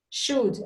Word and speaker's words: should: Should, you don't say should with L.